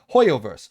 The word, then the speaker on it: HoYoverse: that's the devil that's how you say it hoyoverse they showed off genji impact trailer uh it's